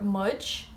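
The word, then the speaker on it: muid: She is she, but of course it's spelled differently than English. And we is shin or mudge.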